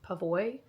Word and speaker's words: PAVOI: I'm just gonna say it's pronounced Pavois.